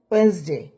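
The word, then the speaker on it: Wednesday: তো পৌঁছে উচ্চারণ ওয়েডনেসডে, ইংরেজির সঠিক উচ্চারণ হইলো এটা ডি, ইংরেজিতে ডি উচ্চারণ হয় না, ওয়েন্সডে একটা জি উচ্চারণ হয়।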